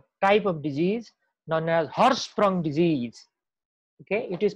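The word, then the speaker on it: Hirschsprung: important you know type of disease known as Horst from disease okay it is pronounced as hoarse from disease so let's talk about this now this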